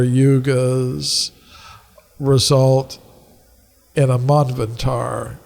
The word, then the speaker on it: Manvantar: 71 cycles of 4 yugas result in a manvantar. It's a larger cycle. How do you say it? Manvantar? Manvantar.